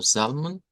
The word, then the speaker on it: Psalm: es recordarán verdad que lo vamos a pronunciar como salm y en el caso